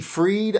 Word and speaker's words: Fried: her name is nikki freed i believe it's pronounced freed it's spelled fried it might be pronounced